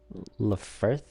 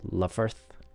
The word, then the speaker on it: Lfrith: Today I will be doing the uh Gundam Lefer Lefer. I'm not sure how that's pronounced. Uh I did watch the show u the witch from Mercury. I believe it's Leverth.